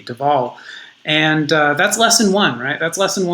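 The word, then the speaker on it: de Waal: jane goodall for most of my life i pronounced his name uh franz dewall and um just in looking into his his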